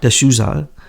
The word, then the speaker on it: D'Souza: D'Souza.